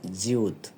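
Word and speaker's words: 지읒: এবার সিউতের মতোই দেখতে অনেকটাই, এটা ঠিক উপরে একটা শুধু বাম থেকে ডানে টান আছে উপরে মাথার সাথে সংযুক্ত, এটা হলো জিউত, উচ্চারণ দেওয়া আছে জিউত।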